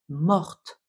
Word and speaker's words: morte: féminin pluriel bien sûr car quand on ajoute le e au participe passé mort on doit bien prononcer le T morte je suis morte de